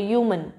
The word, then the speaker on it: human: First letter है हमारा U, ये H इज साइलेंट तो U. इसका फर्स्ट साउंड कैसा निकलता है? U. हिंदी में लिखकर देखो, ह्यूमन, U. तो U, य वाली साउंड आ रही है.